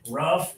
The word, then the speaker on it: rough: This is actually rough. It rhymes with stuff.